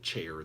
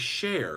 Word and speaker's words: Cher: Tina said everybody pronounces it chair. They're used to it. I know. It's share, like, if I could turn back time.